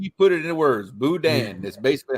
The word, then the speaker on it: boudin: It's called booty. Dude, it's not. It's boudin. Boudin. Say it right.